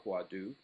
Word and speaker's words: hwadu: difference in schools are huatu or huadu in the Korean pronunciation and of course much